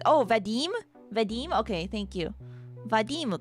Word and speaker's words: Vadim: Vadim かな名前の発音。Thanks for letting me know.